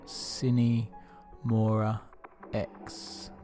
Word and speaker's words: Sine Mora Ex: for a game but I think you pronounced cine Maura X okay so what is